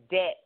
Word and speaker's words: debt: But we want you to leave the bad spending habits, bad saving habits, and bad debt habits behind. And yes, the B is silent.